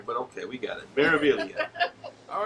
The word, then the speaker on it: Meraviglia: The Meraviglia. The G is silent. So many times. They're wasting a perfectly good G in there, but okay, we got it. Meraviglia.